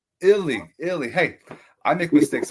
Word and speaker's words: Ealy: on my next guest we're gonna have Ken Easley what's up my friend how are you Ken